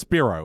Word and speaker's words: Spiro: It's pronounced Spiro. It's a Greek name.